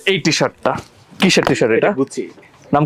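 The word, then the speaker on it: Gucci: এবং এটা হচ্ছে এই টিশার্টটা কিসের টিশার্ট এটা গুছি নাম কি গুছি উচ্চারণ গুছি গুছি গুছি হ্যাঁ গুছি বলে নাকি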